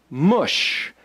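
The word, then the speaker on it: מש: word spelled mem Sheen it's pronounced mush m and SH mush what does mush mean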